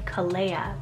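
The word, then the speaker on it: Calea: the list here i have is the name kalea c-a-l-e-y-a now this one was actually kind of tricky to find any information on but it could be a variant of the name kalea but spelt c-a-l-e-a i feel like it probably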